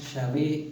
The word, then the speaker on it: Yahvé: La mayoría de los hebraístas y algunos eruditos judíos han acordado en que la pronunciación Yahvé es la más próxima a la original.